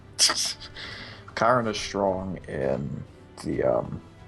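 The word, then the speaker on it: Chiron: Smite which is chyon what do you think about chyron Kiron is strong in three roles k sorry I I was mispronouncing it Kiron is strong in the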